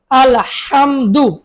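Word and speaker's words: الحمد: আলহাম দাল পেশ দু আলহামদু গলায় চাপ দিয়ে বলুন আলহামদু লাম লাম জের লিল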